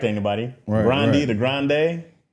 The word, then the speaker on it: Grande: I saw Ariana Grande say that her name was Grandee. Mhm. And that's not right. She was like, "Yeah, well the Grandes blah blah blah." She was talking about her family with her grand she's like she's Italian. It's not Yeah. It's not grande. It's actually grande.